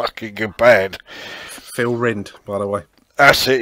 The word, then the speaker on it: Phil Rind: it's just a good band phil rind by the way that's it yes i always used to keep pronouncing it phil ryan for some reason well it smells like you